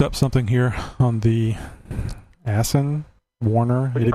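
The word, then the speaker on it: Aisin: Okay, I looked up something here on the Asen Warner. What did you call me? Yeah, exactly. Actually, it was a question. AW4 transmission. How do you pronounce that? A-I-S-N, Asen?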